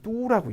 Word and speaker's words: 都: 여러분 요거 떠오라고 읽으시는 분들 있으면 안 돼요. 그렇죠? 떠오라고 읽을 때는 부사. 그죠? 다 모두 이럴 때 쓰는 거고 도시라고 할 때는 뚜라고 있죠. 그렇죠?